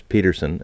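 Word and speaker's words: Pettersson: it basically Elias Peterson and that's how he wants it pronounced by the way Peterson even though people say Patterson Patterson had this wrong yeah they asked him what he wanted and he he's told the reporters how he would prefer his name be pronounced in his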